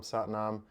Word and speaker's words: Sat Nam: If you want to join me, long syllable Sat, short Nam. Sat Nam means truth is me.